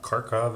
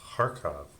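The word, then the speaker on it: Kharkov: on youtube told me you don't pronounce the k it's not karkov it's harkov something like that uh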